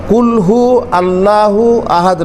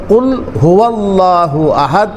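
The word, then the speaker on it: قل هو الله أحد: এটা হচ্ছে সঠিক উচ্চারণ কুলহু আল্লাহু আহাদ নয় বরং কুল হুয়াল্লাহু আহাদ এটা হচ্ছে সঠিক উচ্চারণ।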